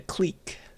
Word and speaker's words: clique: out with each other but in math we call it a clique instead so we pronounce the i differently for some weird reason so maybe actually the